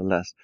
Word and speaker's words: lässt: Yeah, and this L-A with umlaut is pronounced like lest, Sutter lest.